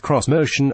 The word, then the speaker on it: X-Motion: Pronounced cross-motion, it's meant to be a Japanese aesthetic take on that most American of vehicle form factors, the SUV.